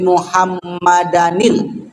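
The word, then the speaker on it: مُحَمَّدًا: tamah wasatil qimah Ati muhammadanil Kenapa ada Danil di situ bacanya karena ada Hamzah wasal kalau ada muhammadan dan ujungnya kemudian disambut oleh alif lam maka ditambah Nun di bawahnya itu belajar tahsinnya begitu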